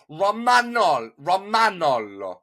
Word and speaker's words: Romagnolo: so you would pronounce the A. You wouldn't say, you're dropping the A like you would in English, but in Italian you would go Romagnolo.